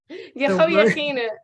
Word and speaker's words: Jehoiachin: Jehoiachin is actually how you say it, but don't worry about it.